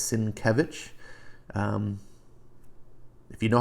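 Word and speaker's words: Sienkiewicz: problem saying his name it's not cinco wits or psychic coup it's it's sin Kevin if you know how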